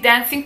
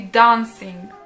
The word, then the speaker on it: dancing: cały czas zwracałam uwagę, jak on wymawia słowo dancing. On nie mówi dancing, tylko mówi dancing.